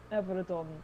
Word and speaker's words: Avrydon: But the pronunciation in common is Everydon A comes first before M.